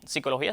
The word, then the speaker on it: psicología: escribiendo esa P inicial, pero al final esa P no se pronuncia y por tanto lo